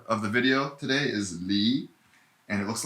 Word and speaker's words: 离: of the star of the video today is lee and it looks like this it's a kind of a fun looking character it's pronounced b and the the formula for how